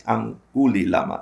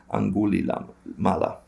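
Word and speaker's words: Angulimala: Anguli Lama, I said it wrong. Anguli Mala.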